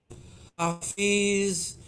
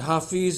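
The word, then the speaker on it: حافظ: Hafiz means the protector. Both of these words have the same roots, which are H, F, and TH letter, which a lot of people just pronounce as a Z.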